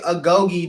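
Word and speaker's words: agoge: you know for people who don't so basically agogi the way it's spelled is um AG g o g e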